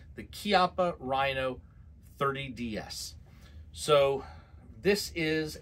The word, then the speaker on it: Chiappa: Okay, so today we are looking at the Chiappa, pronounced Chiappa, this is Italian, the Chiappa Rhino 30DS.